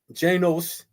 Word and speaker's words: Janus: Janus, pronounced Janos, is the god of beginning.